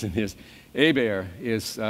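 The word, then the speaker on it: Hebert: finish up with Jeff a beer now you gotta have to have had to correct people with the pronunciations in his a bear is silent H and an accent on the e it's a good local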